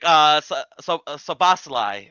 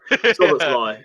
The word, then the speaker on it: Szoboszlai: We're talking about Dominic Szoboszlai or Szoboszlai. RB Szoboszlai. Yeah, Szoboszlai.